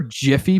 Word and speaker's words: GIF: case right was like hey it's actually Jiff and I was like no it's not and then they showed me like the proof like the guy who created it was like it's it's a gif guys like how mad would